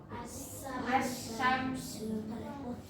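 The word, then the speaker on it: الشمس: Tapi kalau idgham itu langsung dimasukkan dari huruf yang pertama langsung dimasukkan ke huruf yang selanjutnya. Gimana cara membacanya? Asyamsu. Asyamsu. Gini, ya.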